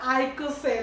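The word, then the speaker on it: icosane: ওকে ঠিক আছে, তাহলে এখানে কি করব আমরা, আইকোসেন, দেখো আইকো এটার উচ্চারণ আইকো হবে, আইকোসেন। তাহলে আইকোসেন এটা ইউজ করব কত, কার্বন 20 হলে।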